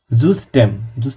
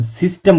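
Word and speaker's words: System: বা ঘন্টা জুস স্ট্যাম জুস স্টেম সিস্টেম জুসম ইউপসিলন এটা কিন্তু সিস্টেম বলবেন না আমি জানিনা আপনারা কিভাবে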